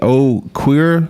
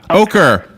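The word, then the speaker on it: Oquirrh: but what is the oh queer chapter is that how you pronounce it oh queer sir ocher the ocher chapter o-q-u-i-r-r-h just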